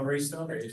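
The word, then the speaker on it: Raystown: Oh, Raystone.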